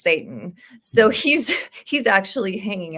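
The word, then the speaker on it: Seyton: is spelled s y t o n and pronounced Satan so he's he's actually hanging out with Satan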